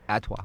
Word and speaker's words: ATWA: The song ATWA, I don't know how you pronounce it. Atwa.